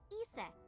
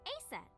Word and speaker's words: Isis: horace's mom is named isis but in ancient egyptian it's pronounced closer to isa or asa hmm how do i